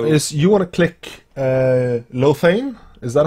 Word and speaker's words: Lothian: to do now is you want to click Lothain. Is that how you pronounce it? Well, Lothain. It's the capital of the rebellion. The big red shield with the black stripes, black bars. Lothian, yeah.